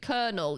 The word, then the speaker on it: colonel: Oh, and colonel. But that's both Americans say that too. Colonel. You say this. Again, this is one of those other ones that kids that read the word first said it wrong. Colonel. You say it like colonel. Why? Britain. I don't know. Not colonel. I'll look it up, actually.